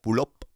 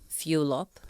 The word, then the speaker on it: Fulop: It's pronounced Fulop. Fulop, who wanted to find beautiful home essentials that